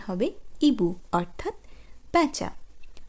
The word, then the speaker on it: hibou: un hibou, un hibou অর্থাৎ প্যাঁচা। আমি আপনাদের বলেইছি যে ফরাসি ভাষার ক্ষেত্রে আশ অ্যালফাবেটটি নিঃশব্দ থাকে, তাই তার পরবর্তী অক্ষর